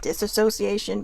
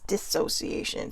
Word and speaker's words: dissociation: was actually mispronouncing it i was calling it disassociation but it was dissociation so no way um